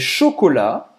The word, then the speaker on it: chocolat: Des chocolats. Chocolates. Não pronuncia o T em francês.